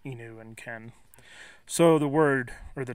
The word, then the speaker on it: Nihon ken: call them Shikoku but I tend to pronounce the names as they're pronounced in their native country or as best as I can so you'll notice me saying he knew and Ken so the word or